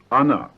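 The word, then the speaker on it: она: speaks is another so she is an right pronounce Ana good now for the forms of the plural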